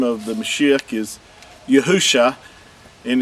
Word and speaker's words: Yahusha: the the mashix name yahusha this is uh from left to right the first three letters uh are pronounced as yahoo and the last two